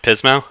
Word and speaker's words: Pismo: director at the Haven at Pismo sat outs pronounced Pismo yes sir all righty did I miss anything